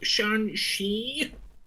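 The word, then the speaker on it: Shang-Chi: And then Southpaw's just like, it's pronounced Shan-Shi.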